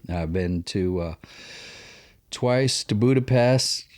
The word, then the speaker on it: Budapest: been to twice uh budapest it's not pest budapest the s it's pronounced with sh just the way they